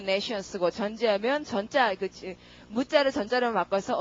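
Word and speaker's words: nescience: 근데 그렇게 강세가 앞에 들어가서 네 science 이렇게 안 하고 nations 이랍니다. nations. 쉬로 발음이 죽죠. 뒤에 말이 강세받는 말 다음 말이 발음이 죽으니까요.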